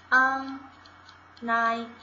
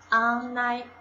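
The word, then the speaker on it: 案内: on night，跟汉字像不像发音？ on night on night。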